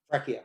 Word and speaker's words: Fracchia: Now, could you speak very, very quickly about Henry, I never pronounce his name correctly, Fracchia? Fracchia, yeah. Fracchia.